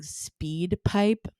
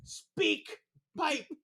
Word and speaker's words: SpeakPipe: bite and I guess wherever people thought you were saying speed pipe so I do feel like I have to say speak bye I'll go slower it's Speak s-p-e-a-k-p-i-p-e oh my mispronunciation might have cost